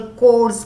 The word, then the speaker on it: chores: तो male female equality, ये नहीं कि लड़कियों को ही हाउस होल्ड कोर्स करना है, CHORES इज नॉट चोर, H is silent, it इज कोर, मतलब घर का काम, राइट?